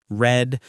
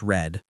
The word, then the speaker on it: read: Went, had, cooked, stayed, watched, read, spelled the same but pronounced red.